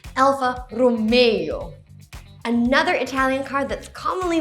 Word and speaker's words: Alfa Romeo: It's not Alfa Romeo, like from Romeo and Juliet. It's actually al-fa ro-MEY-oh.